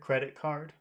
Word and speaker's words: credit card: words always go together credit card yes okay so which which word should you emphasize credit or card a credit credit all right and so